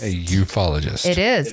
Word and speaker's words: ufologist: that is actually how it's pronounced, ufologist. A ufologist.